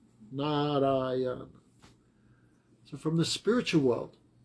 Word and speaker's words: Narayana: And when he said Narayana, 4 syllables, Narayana.